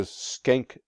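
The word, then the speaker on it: Schenck: world war one comes the skank case that's how it's pronounced very important to know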